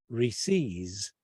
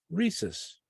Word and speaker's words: Reese's: the monkey cup but there's no one in this part of the United States that pronounces r-e-e-c-e-s as receives but rather as rhesus oh you say Reese's yeah like possessive yeah okay right exactly